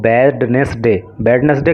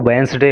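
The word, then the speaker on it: Wednesday: एक बात यहाँ पे मैं बता दूँ, इसको बैडनेसडे कभी मत पढ़ना, इसका जो प्रोनाउंसिएशन होता है वो वेंसडे होता है, ठीक है।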